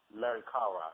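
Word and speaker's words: Merikare: say the name wrong, King Merika. Am I saying that right? Merikara. Yeah, you good, bro.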